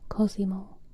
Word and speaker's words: Cosimo: But is it like a softer S? Or is it like a Cosimo? Oh my god, I'm so sorry, y'all. I'm just a mess tonight. I'm just bonking everything in existence. Cosimo. A Z, Cosimo.